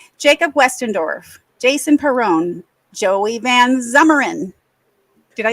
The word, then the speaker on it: Van Zummeren: Joey Van Zummeren.